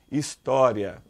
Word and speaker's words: história: quando eu falo assim olha história hisória Olha a sílaba mais forte é essa P que eu nem me lembro o que que é paroxítono Então veja bem paroxítono é uma palavra cuja sílaba mais forte é a penúltima ó a última sílaba É essa a penúltima é essa então ela é a mais forte história então paroxítona terminada